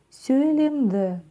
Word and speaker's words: сөйлемді: Разбираем третий слог, потому что со вторым у нас все в порядке. Как это пишется палочка с точкой, как она читается, да? Все на самом деле очень просто. Мы, чуть-чуть улыбаясь, языком упираемся в нижние зубки. И у нас получается звук «ы». «ы». «ы». Сөйлемді. Сөйлемді. Сөйлемді.